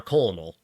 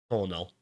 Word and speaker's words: colonel: So I I literally used to pronounce it as uh colonal cuz it's like that's how you would think it would be pronounced, right?